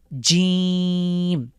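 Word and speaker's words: جيم: শুধু নোক্তাতে প্রথমে হলো জিম শক্ত করে জিম জিমের পেটের মাঝখানে এক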